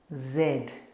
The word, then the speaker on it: Z: Trong cách phát âm tiếng Anh của người Mỹ, đó là zee. Trong cách phát âm của Anh và Úc, chữ cái này là zed.